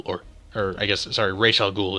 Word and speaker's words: Ra's al Ghul: her I guess sorry Rachel Ghul is the proper pronunciation right he has n